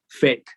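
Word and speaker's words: PHEIC: emergency of international concern, whose acronym is not by accident, they are laughing at us, pronounced fake.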